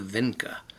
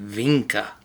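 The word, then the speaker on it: Vinča: Alright, here's our video today, the science of the Vinca. Or some people pronounce it Vinca, with a V, like a V. A lot of natives in the area would call it Vinca.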